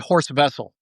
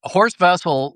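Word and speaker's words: Horst Wessel: But horse vessel was uh it's spelled with a W, but the Germans pronounce it with like a V.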